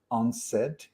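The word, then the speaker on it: UNCED: was called u-n-c-e-d when when you pronounce it it's unsaid i love these type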